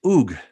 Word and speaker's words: Ug: So the way you would actually pronounce that logogram, gets pretty amazing too, is you pronounce it as Ug, right? Mm. Now there's no O in Sumerian.